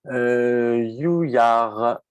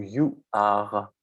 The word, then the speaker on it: Youyar: Alors, on va se tourner, Reynald, on avait donné la parole à Reynald, Farid Youyar, ou Youar, je ne sais pas comment on prononce Farid. Youyar, oui, Youyar, pareil, pas de problème.